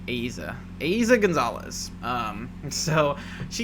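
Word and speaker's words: Eiza: pronunciation right i mean technically i think it should be pronounced aiza aiza because i i'm pretty sure in spanish you pronounce everything unless you know like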